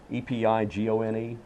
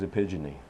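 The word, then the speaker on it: epigone: one here real quick they say it's pronounced epic Gong epi gon e ok I thought it was a pigeon e well I know but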